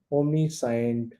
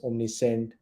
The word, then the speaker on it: omniscient: if i say omnipotent omni sign which is pronunciation is omni sent omni varus omni uh